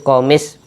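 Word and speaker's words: قميص: hambal suruh minta gamis gamis itu komis bahasa Arabnya komis bacanya gamis gamis itu jubah Cuba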